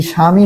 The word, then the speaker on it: স্বামী: আর আমরা শিখেছি যে বফলা শব্দের প্রথমে থাকলে তার উচ্চারণ হয় না, বফলা শব্দের প্রথমে থাকলে কি হয় না, তার উচ্চারণ হয় না। তাহলে এই স্বামী হয়ে যাবে কি সা, ময়ের রস্যি, দীর্ঘই থাকলে কি হয়ে যায়, রস্যই হয়ে যায়।